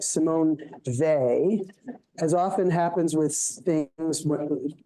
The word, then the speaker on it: Weil: So anyway, it's not wheel, it's they. And I mean, it's really confusing because she's French and that sounds German, but it is Simone Weil. Is how you say it.